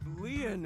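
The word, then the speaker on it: Lien: My name Leon is spelled L I E N.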